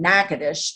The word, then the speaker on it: Natchitoches: my teenage years in Natchitoches. And yes, that's how you say it. I know it looks like Natchitoches.